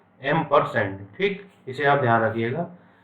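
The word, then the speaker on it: ampersand: ठीक है, लेकिन जो इसका प्रोनाउंसिएशन होता है ना वो होता है एम्परसेंड। ठीक है, एम्परसेंड।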